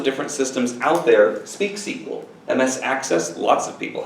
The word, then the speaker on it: SQL: programmer if they say SQL is pronounced sequel which is funny because